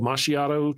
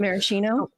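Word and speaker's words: maraschino: Mashiato cherries. Is that how you say it? Marcino. Marcino. That's it.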